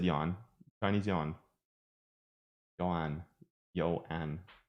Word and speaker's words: yuan: Yuan, Chinese yuan. So you would say it faster.